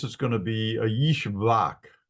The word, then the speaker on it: Ishbak: So this is going to be a Yishbak. Yishbak. So if a name starts with a capital letter I, it's probably a Y sound.